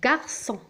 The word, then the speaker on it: garçon: أو la voyelle O أو la voyelle U تنطق غ. غ ناخذ مثال أو أمثلة على كل حالة. ج avec A غا. un garçon.